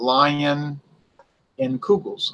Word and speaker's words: Leinenkugel's: important that being said take Leinenkugel's I related to a lion to remember its visualization sometimes I call it lion in kugels ok I asked you